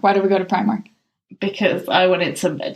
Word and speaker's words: Primark: Am I pronouncing it correctly? Yes, it definitely should be Primark. Not Primark? Not Primark, not Primar. No, I can't say it like that.